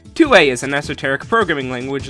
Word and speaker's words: Thue: named axel tua and yes 2a is pronounced differently from tua because the manual says so so basically 2a is